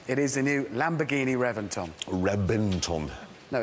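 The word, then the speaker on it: Reventón: No, I know it's spelt with a V, but it's pronounced with a B.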